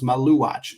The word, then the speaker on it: Maluach: Okay, that's actually phonetically how it looks. Maluach.